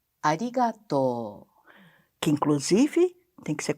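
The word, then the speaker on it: ありがとう: essa expressão mas arigatô as pessoas tendem a falar arigato se fosse em japonês em japonês você tem que prolongar a última sílaba que ficaria arigato que inclusive tem que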